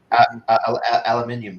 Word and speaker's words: aluminium: You put like an extra I in there, which I think that's how the world does it.